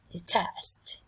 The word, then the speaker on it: detest: Detest, detest, detest. Trọng âm dâm tiết thứ 2 các em nha.